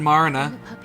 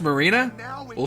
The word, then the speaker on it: Marina: I got shot inserted Mariana yeah the puppies okay oh it's it's pronounced marina I'm